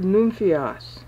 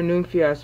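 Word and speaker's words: νυμφίος: The very first use of the word nymphios, which is actually two syllables in the Greek, in Matthew 25, is at the point in the meter where it would be 17, 18, and 19.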